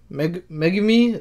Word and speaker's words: Megumi: To see Megumi, that's how you pronounce it.